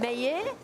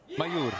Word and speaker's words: Mayur: social media work and my terrible pronunciation of Mayer. Is that right? Mayur. Mayur's name. I've decided I'm taking a break. You got to roll the R.